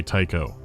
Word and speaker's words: Tycho: Tycho is here and actively devouring the other AI. Someone's after you personally. 1 word, 2 syllables, rhymes with psycho.